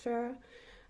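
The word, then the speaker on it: Phoera: Yes, I'm using Farah's, I think you pronounce it Farah, it's P-H-O-E-R-A, so I think it's Farah, but I'm using their soft matte longwear liquid foundation, and it is brilliant.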